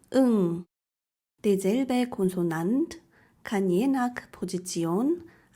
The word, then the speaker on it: ㅇ: as an initial consonant, Ieung (ㅇ) isn't pronounced at all but as a Batchim it sounds like 'ng (응)'.